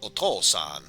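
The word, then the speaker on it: お父さん: a father um then the way you would pronounce him is otolson and since we're talking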